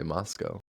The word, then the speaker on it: Moscow: So, when we think about Russia, we say Moscow. But when you listen to them on the news, it's like Moscow, Russia. You don't. Yes. Uh, so we say it like they say it. Okay. So if you want to be a true local, you say Moscow. Moscow. Okay. Imagine like the W got ejected out of the game and it was